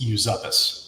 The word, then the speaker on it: Uzupis: Last name is Yuzuppus. It's very difficult to pronounce and I'm told we don't even pronounce it correctly.